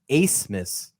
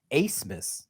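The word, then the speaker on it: Abmas: our things right his last name is actually pronounced acemus Ace pretty interesting name not a bad name considering his potential to hit some big time shots right ace Miss Max Ace Miss how about that all right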